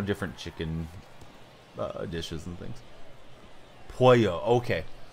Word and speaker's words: pollo: Pollo, okay. So the L is not like the American sound or the English pronunciation of it.